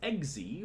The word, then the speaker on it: Xy: And yeah, it's Eggsy, but it's spelled X.